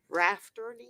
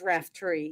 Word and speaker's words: Raftery: I've been pronouncing your name all this time wrong. Rafferty? It's Raftery, yes.